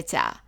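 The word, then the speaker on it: ثاء: The name of it is thaa, thaa, and the sound of it in formal Arabic is th, th, as in the number 3.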